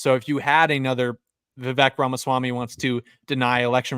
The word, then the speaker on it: Vivek: By the way, it's Vivek. We're a bunch of racists for mispronouncing it.